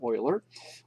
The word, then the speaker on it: Euler: it's built EUL er common mistake is to call them Euler angles but they are actually pronounced Euler angle after the man oiler we're then going to